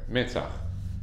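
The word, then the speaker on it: מצח: Metzach. Metzach is spelled Mem, Sadi, Chet.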